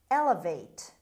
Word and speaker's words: elevate: distance word number two elevate elevate elevate the stress is at the beginning elevate means raise lift